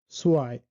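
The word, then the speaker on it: zwei: এম এবং এন এর উচ্চারণ কিন্তু অ্যাবসোলিউটলি সেম। মাইন, সোয়াই, সোয়াই, মাইন সব জায়গায় কিন্তু আমার আইটা চলে আসতেছে।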